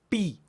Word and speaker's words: pi: porque involucran los labios miren pi si lo pronuncian pi Miren el movimiento de los labios pi Beta fi vieron cómo están comprometidos los labios o